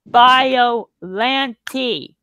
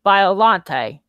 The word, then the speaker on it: Biollante: I hate how people mispronounce Biollante's name. It's Biollante. It's not Biollante. It's Biollante. Get it through your thick skulls.